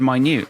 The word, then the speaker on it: minute: Like, I don't know, like the word minute, like you say, you look at the word minute, the way you pronounce it, it looks like it should be written MINNIT.